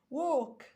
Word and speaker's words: walk: وو، ووش، watch water walk اتنطقت و وطبعا هنا الايه طبيعي تتنطق او لان اصلا قبليها الدبليو وجاي وراها ال، وهنا ال سايلنت بس برضو الايه تتنطق او walk يمشي.